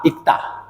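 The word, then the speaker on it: 읽다: কখনো আগেরটা কখনো পরেরটা এখানে কিন্তু পরেরটা উচ্চারণ হয়েছিল তা ল উচ্চারণ হয় নাই কিন্তু যখন এরপরে স্বরবর্ণ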